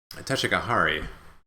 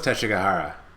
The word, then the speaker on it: Teshigahara: It was Teshigahara. Woo woo woo. I mispronounced his name, but that's who I meant.